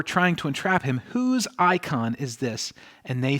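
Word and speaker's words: εἰκών: currency and so this word likeness is produced icon in the greek that's how it's pronounced and it's actually where we get our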